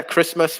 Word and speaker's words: Christmas: and also christmas yeah christmas with a silent t look at that lots